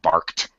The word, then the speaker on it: barked: with k and t it's necessary for us to pronounce the T so we can understand it the dog barked Bark Bar what I have to slam my tongue down twice bark twice bark twice barked barked barked okay H yeah yeah yeah